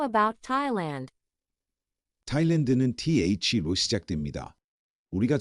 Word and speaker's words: Thailand: 그런데 타일랜드의 영어 단어의 TH 발음은 예외적으로 그냥 태 발음이랍니다. 이와 같은 예외적인 발음은 대부분 지명이나 고유 명사에서 발생해요. 소리내어 발음해볼까요? Thailand.